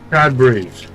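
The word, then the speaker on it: Cadbury: have some cadberry eggs CAD berries that's how it's said by people in the country that was founded on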